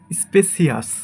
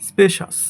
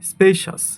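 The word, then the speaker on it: spacious: এটাকে আমরা বলি স্পেসিয়াস। স্পেসিয়াস, বাট এটা সঠিক উচ্চারণ হবে স্পেশাস। স্পেশাস, স্পেশাস।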